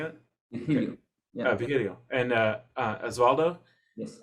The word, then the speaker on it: Virgilio: Virgilio.